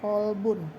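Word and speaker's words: قلب: Qolbun dengan kalbun beda jauh. Jadi jangan salah antara makharijul huruf kaf dengan qof.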